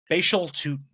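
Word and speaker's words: Bhayshul Tuten: position Jay his name say his name again Basel toon is how you say it B toon okay so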